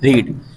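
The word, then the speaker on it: read: पढ़ते थे तो दे रीड अब रीड की first form second form third form same होती है लेकिन सेकंड थर्ड फॉर्म को हम बोलते है रेड ठीक है स्पेलिंग रहेगी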